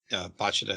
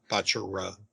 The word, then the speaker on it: Bachira: R's and L's are pronounced the same in Japanese. Same with B's and V's. So Rin is Rin, and then Bachida is Bachida, not Bachira.